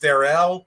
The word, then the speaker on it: Darrell: It's spelled like Daryl, but it's pronounced Darrell.